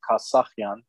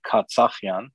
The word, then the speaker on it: Kassakhian: of my last name which is kasakyan some branches of our family in various parts go went by katsafian but that was because of a mispronunciation of uh in regional dialects the from what my